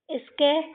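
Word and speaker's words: sketch: अब देखो ई से और ए से दोनों से अधिकतर ए की मात्रा चढ़ती है। तो ये स्के और टी सी एच लास्ट में है तो टी साइलेंट स्केच स्केच है ना बच्चों?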